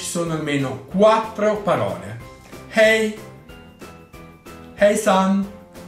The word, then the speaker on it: hejsan: La H in svedese va pronunciata sempre, è aspirata come in inglese.